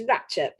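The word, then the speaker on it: Ratlinghope: She notes some of the names, and thankfully they're rather strange pronunciations, like Rattling Hope, as it's spelt, is Ratchop.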